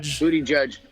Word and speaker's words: Buttigieg: I like that butt egg guy, however you say his name, Buttigieg. How do you say it? I like to refer to him as Booty Judge. But I believe more correctly it is Booty Judge.